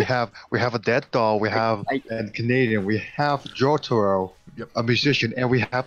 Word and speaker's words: Jotaro: How does everyone pronounce it? All right, I pronounce it Jotaro. Jotaro. That's how I pronounce it. You cut off, so that was even better. For me? Okay. Jotaro. Jotaro. You're like Jotaro. Jotaro. I say either way. I've heard Jotaro before.